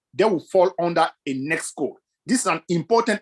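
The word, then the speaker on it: NAICS: write something called a next code that is something you need to write down next code is spelled n a i c s and I'm writing it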